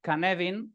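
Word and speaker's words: Cynefin: de de Dave snowden se llama canvin a pesar de que se escribe cinef pero el tío es galés y pronuncian así como como un poco como un poco de aquella manera y se lee desde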